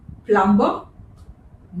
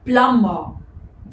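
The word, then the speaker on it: plumber: The next word is इट प्लमबर नो इसे pronounce करते हैं प्लमबर द बी is silent प्लमबर ये तो हम सभी जानते हैं।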